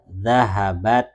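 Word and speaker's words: ذهبت: Zahabat gitu. Dengan tak sukun di belakangnya.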